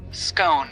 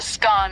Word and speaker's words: scone: topic the pronunciation of scone both scone rhyming with gone and scone rhyming with bone are accepted pronunciations though Regional variations exist